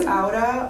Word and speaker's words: Aura: was nice yeah yeah say it again it's Auda um I feel like you know it's a